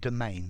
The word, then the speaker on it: demesne: there students domain domain notice the pronunciation domain there's no s okay a domain is